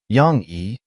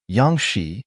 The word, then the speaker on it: Yang Xi: Yang E, do you dare to agree? Little Anne<unk>s expression was indescribable. The name is pronounced she. Wan corrected herself immediately, her momentum unchanged. Yang Xi, do you dare to agree?